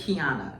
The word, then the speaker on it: Keonna: They be calling me KEONNA. Okay. KEONNA, but it's KEONNA. Yes, it's KEONNA.